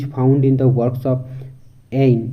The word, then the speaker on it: Ayn: A contemporary version of egoism is found in the works of Ayn, usually pronounced Anne Rand.